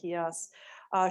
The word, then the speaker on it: Kijas: Do you pronounce the J or Kias? Kias.